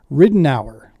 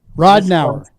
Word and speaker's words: Ridenour: Mr and let's see if I can pronounce that last name right ridden hour let's see if I'm right did I get it right ridden hour that's close it's Rod now rodau gotcha you know I've murdered right that's everybody's